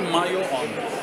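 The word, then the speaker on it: muon: مياو وفي مياون، في الف بعد الواو ممكن برضه، وفي مايو اون بالانجليزي زي ام واي او او، هي مش تكتبش كده لكن تتنطق كده ام واي او او بعدين او ان زي مايون.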